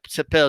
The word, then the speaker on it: Cepeda: Okay, Cepeda, whatever you want to. Cepeda is the right way to pronounce it.